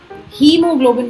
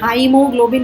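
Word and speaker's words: haemoglobin: हीमोग्लोबिन, इसी तरह से डायरिया, इसमें हीमोग्लोबिन बोलते हैं, हाइमोग्लोबिन नहीं बोलते।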